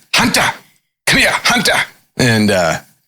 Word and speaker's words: Hunter: Hunter, come here, Hunter. And I never heard anyone pronounce my name with the T. In the South, it's Hunter. Yeah.